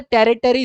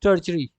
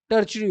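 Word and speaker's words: tertiary: Please इसे टेरिटरी sector मत बोलना है, इट्स टर्चरी, टर्चरी बोलना, ठीक है, क्लियर।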